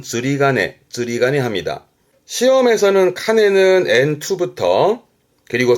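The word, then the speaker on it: 釣鐘: 발음은 즈리가네. 앞에 게 조자인데요. 낚시하는 낚시 조자입니다. 조종이라고 그래서 낚싯줄에 매달아 놓은 종. 흔히 절에 가면은 매달린 종이 있잖아요. 그거를 조종. 발음은 즈리가네 합니다.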